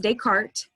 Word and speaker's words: Descartes: René Descartes, it's probably a name you've heard before. It's pronounced Descartes.